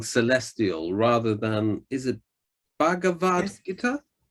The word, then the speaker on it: Bhagavad Gita: I think it's easier for me to pronounce song celestial rather than, is it Bhagavad Gita? Bhagavad Gita, yes.